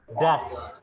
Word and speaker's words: does: Bukan does bacanya. Das. Does. Ya, das ya.